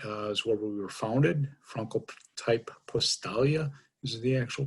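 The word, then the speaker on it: Francotyp-Postalia: europe uh germany is where we were founded franco type postalia is the actual pronunciation of the company in the united states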